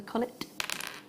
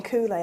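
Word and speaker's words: culet: And whenever we were saying coulee, I was like, oh, I don't know what that bit is. No, it's cullet. Yeah. It's cullet. So if you call it a coulee, it's not a coulee.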